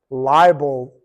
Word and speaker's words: liable: responsible not the same the two different words here that I say them the same pronounce the same liable the Tor of defamation